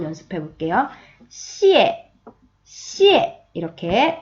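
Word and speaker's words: 谢谢: 이렇게 하시는 분들도 계시고 또 쉬쉬 어 이렇게 이상하게 발음하시는 분들 많거든요 자 우리 이제 배운 사람들이니까 고급지에 시에 시에 하고 표현해요 자 그러면 자 고마워요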